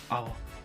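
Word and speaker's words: hour: अब इसी प्रकार हम नेक्स्ट एग्जांपल लेते हैं, जैसे एन आवर। याद रखिए कि आवर में एच हमेशा साइलेंट ही रहता है।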